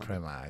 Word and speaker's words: Soprema: Depois de 18 anos eu saí, hoje estou na Suprema, que adquiriu a Denver, que é Suprema, né, como se fala. Suprema, isso aí.